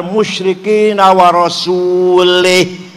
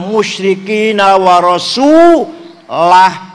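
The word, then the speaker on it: وَرَسُولُهُ: Anallah waallaha barium minal musyrikinaasulih. Allah tidak melindungi orang musyrik dan tidak melindungi Rasulullah. Salah. Baca yang benar. Yang benar bacanya. Waallaha barium minal musyrikinaasulah.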